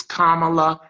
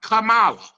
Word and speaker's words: Kamala: Again, her name is Kamala Harris, Madam Vice President, not Kamala, Kamala, as in a comma, Kamala Harris.